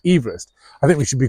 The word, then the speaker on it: Everest: Sir George Everest although but apparently he pronounced his surname Everest so maybe we should actually be calling it Mount Everest I think we should